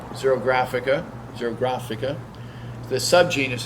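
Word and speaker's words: xerographica: wit year row waiter in 1953 how to pronounce the name zero grafica zero grafica the SubGenius it's in which is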